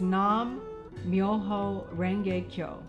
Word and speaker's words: Nam Myoho Renge Kyo: The essence of this practice is Nam Myoho Renge Kyo, pronounced Nam Myoho Renge Kyo.